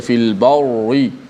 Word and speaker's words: fil barri: Fil barri, tidak boleh baca fil barri, kita baca dengan ri, ra bila baris bawah. Hukumnya dibaca dengan nipis.